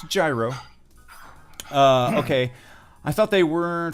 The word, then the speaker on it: gyro: see what is the proper way to pronounce gyro its gyro okay I thought they